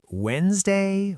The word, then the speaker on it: Wednesday: Is it Wednesday? Wed-nes-day? Where does that silent D come from?